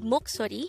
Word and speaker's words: 목소리: hango word number 190 this is pronounced as a three syllable word the first syllable is mo second syllable is so and third syllable is re pronounce it with me the word moksori is the korean noun